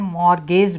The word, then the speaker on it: mortgage: initially these banks were called land more gays banks t is silent land mortgage banks the